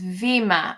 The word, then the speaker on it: Vima: It's Vima. Okay, her name is Vima. That's how it's pronounced. Vima.